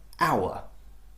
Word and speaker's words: hour: But all of those words, you notice the letter H is unvoiced, it is silent.